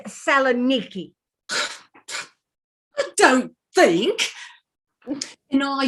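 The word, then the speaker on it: Salonika: places mine is at southern aiki you'll excuse us mrs hagerty but the correct pronunciation is selenicky i don't think and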